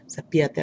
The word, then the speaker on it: cepíllate: I can hear the accent right there in the I, so that's where I'm going to put it. Cepíllate los dientes cada mañana y cada noche.